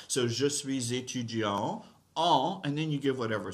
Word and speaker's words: étudiante: So je suis étudiant en français. That's for a guy. For a girl, je suis étudiante. En français, je suis étudiante en français, right? Girls, you have to pronounce the T sound, right?